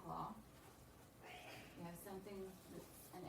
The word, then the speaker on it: les: La, which looks like la. You have something that's an L apostrophe. Then you have lay, which is spelled L-E-S.